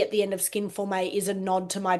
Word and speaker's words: Skin Forme: So just so you know, moving forward, it's pronounced Skin Forme.